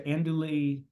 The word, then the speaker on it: andouille: How do you pronounce the New Orleans sausages? The andouille.